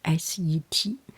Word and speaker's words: Set: You have already heard about his story, Set, S-E-T. Some pronounce it, or some written S-E-T-H, Set.